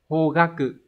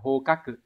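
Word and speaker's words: 方角: giác này đọc là hogaku. Hogaku nghĩa của nó gần giống là phương hướng nhưng mà nó chữ Hán là chữ giác nhé, mà nhớ là đọc là hogaku không phải là hokaku.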